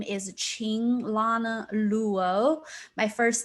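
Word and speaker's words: Qing: spells to IMG and the letter Q pronounces CH so when you say my name just pretend it's spelled as if it's a CH ing it's a Ching I'm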